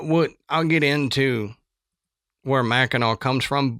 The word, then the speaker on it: Mackinac: And what what I'll get into where Mackeno comes from. But how come it's spelled like Mackinac?